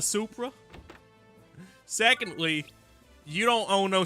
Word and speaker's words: Supra: So there I was in my Subra. Uh, sir, first off, it's pronounced a Supra.